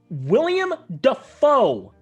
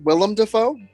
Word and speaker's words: Willem Dafoe: Like William Dafoe. You spelled William Dafoe wrong, dumbass. Actually, it's pronounced Willem Dafoe.